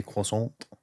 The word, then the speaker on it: croissant: I would say Is it croissant? So you can say the T less, but then it's perfect. Yeah, croissant.